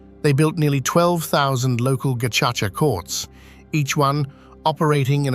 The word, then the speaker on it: Gacaca: In 2001, the new government revived a traditional dispute resolution practice, Gacaca, pronounced Gacaca.